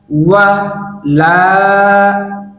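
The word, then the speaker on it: ولا: ওয়া লা, ওয়া লা, ওয়া লা। এই শব্দের উচ্চারণ হচ্ছে ওয়ালা, ওয়ালা।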